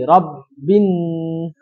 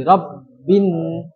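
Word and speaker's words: رَبِّ: Di Rabbin, tasydidnya dua. Di Rabbin. Di Rabbin.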